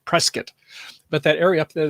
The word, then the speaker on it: Prescott: We've been to the Grand Canyon the previous year, but, up there by Sedona and I'd like to say Prescott, but it's pronounced Prescott.